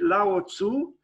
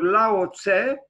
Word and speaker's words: Lao Tzu: suggest to you to read Lao Tzu or Laut say the great philosopher uh you know paradigmatic figure of the Chinese uh spiritual landscape together with Confucius Lao TSU or Laura say his name is written